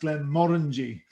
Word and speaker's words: Glenmorangie: all the rest but we believe it should be pronounced glenn morengi with the kind of